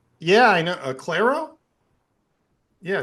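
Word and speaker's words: Clairo: And then fifth, I'm gonna go with Clero. Do you know Clero? Yeah, I know. Clero.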